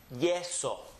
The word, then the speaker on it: yeso: beginning of a word, it will always have a Y sound, just as it is in English.